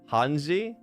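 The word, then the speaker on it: hanzi: it I think uh it's it's hani right like Chinese kanji is actually called hani that's how you pronounce it you remember your friend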